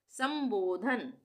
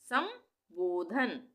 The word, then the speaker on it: संबोधन: प्रभारी प्रभारी संबोधन समबोधन अगर पूरा म होता तो हम क्या पढ़ते इसको समबोधन समबोधन पर वो शब्द नहीं है ना शब्द होता है संबोधन यहां पे आधे म का उच्चारण हो रहा है संबोधन अवलोकन अवलोकन अवलोकन अवलोकन